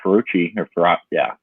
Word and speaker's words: Fauci: How do you say his name? Fauci. Yeah, Fauci. Yeah, it is Fauci.